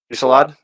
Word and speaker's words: Fusillade: Fusillade? Fusillade?